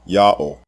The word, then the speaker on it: Ya'oh: All 4 of these spelling forms are pronounced the same way, Yah-oh.